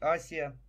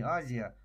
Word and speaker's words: Азия: По всей Африке, по всей Азии, а правильно говорить Асия, вот, на, по-моему, на англоязычных картах до сих пор на некоторых сохранено истинное название не Азия, а Асия.